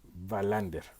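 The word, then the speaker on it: Wallander: la policía kur bander digamos que la pronunciación sería bander es interesante esta serie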